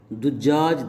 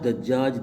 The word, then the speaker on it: دجاج: تو 5 ڈول نکالو۔ دجاج کے تلفظ کے متعلق کہہ رہے ہیں کہ مثلث الدال، دال پر 3 حرکتیں آئیں گی، دجاج، دجاج، دجاج، فی المشہور، مشہور قول کی بنا پر۔ ولا نص علیہ ظاہراً،